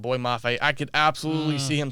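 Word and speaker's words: Boye Mafe: Boy Mafe? Boy Mafe, yes. Minnesota? Yes, that's how you say his name, Boy Mafe.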